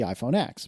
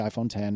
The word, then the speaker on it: iPhone X: earlier in the keynote, I expected to see the iPhone X, but now we know it's the iPhone 10.